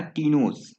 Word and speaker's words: ktenos: वो हो जाएगा टीनोस। ठीक है ना। तो टीनोस की स्पेलिंग क्या हो जाएगी? वो हो जाएगी KTENOS।